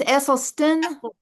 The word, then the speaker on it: Esselstyn: Eselen Stin. Oh, it is Esleston. Like where where you been? It's a Dutch name.